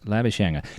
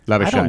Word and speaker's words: Labuschagne: Leading run scorer in County Cricket Division 2, one Marnus Labuschagne. Now, am I pronouncing that correctly? Labuschagne.